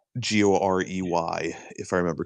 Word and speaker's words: Gorey: Now that you say that, yeah, Edward Gorey, but it's spelled like Corey. Gorey, if I remember correctly.